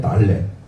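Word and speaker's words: ד: 그리고 네 번째 달레, 문, 디귿 소리예요.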